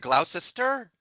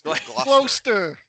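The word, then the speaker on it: Gloucester: You would have said Glausester. It's glaster.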